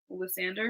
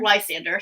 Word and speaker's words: Lysander: You said Lysander? Lysander, sorry. I misspoke. Wait, is that how you really pronounce it all the time?